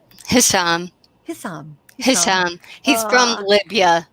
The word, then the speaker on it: Hisham: How do you pronounce his name? Hisham.